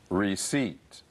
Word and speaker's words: receipt: Receipt. Receipt. If you want to return any clothing, you'll need your receipt. Please remember this word, the P is silent.